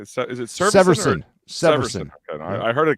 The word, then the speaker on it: Severson: Severson.